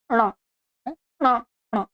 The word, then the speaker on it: ण: ट ठ ड ढ, और इसमें मूर्धा के साथ में नासिका मिला देंगे, ण ण ण।